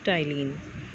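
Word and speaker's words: ptyalin: spinning start from P but P is silent so we pronounce it as tiling now this enzyme is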